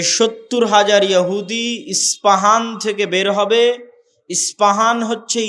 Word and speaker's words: ইস্পাহান: প উচ্চারণ করি ইসপাহান আরবিতে এটা উচ্চারণ হয় না আরবিতে হয় আল আসবাহানি বা উচ্চারণ হয় ইসবাহান বা আসবাহান সেখান থেকে 70 হাজার ইহুদি দাজ্জালের সঙ্গী হবে সাথী হবে এবং মুসলমানদের বিরুদ্ধে যুদ্ধ করবে।